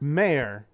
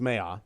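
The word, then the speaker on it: Mayer: bag pipes um Mark mayor although I've been told his name is pronounced Maya my apologies Mark Maya posted this wonderful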